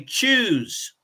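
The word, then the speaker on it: Tschüss: okay informal you say choose choose it sounds like c-h-o-o-s-e but it's it's spelled differently it's spelled t-s-u-c-h-s-s but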